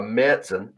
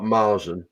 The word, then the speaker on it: Märzen: If you like a Bock or a Märzen, which apparently is how you're supposed to pronounce it, not Marzen, like uncultured swines like me have been pronouncing it for donkey's years.